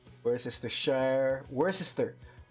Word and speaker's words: Worcester: Worcester. I believe that Tershire is silent. Sorry, the Shire is silent. It's Worcester sauce.